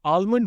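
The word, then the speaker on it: almond: उनका कहना है कि अगर आप आलमंड बोलते हैं तो वो गलत है, क्योंकि एल साइलेंट होना चाहिए, लेकिन ये करेक्ट नहीं है।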